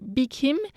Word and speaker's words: Bi-khim: Son nom mandarin est Xiao Mei-chin, mais elle a choisi comme nom anglais Bi Kim, qui reflète la prononciation en taïwanais de son nom.